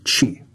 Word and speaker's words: Qi: northern state of chi qi pronounced chi the rulers of qi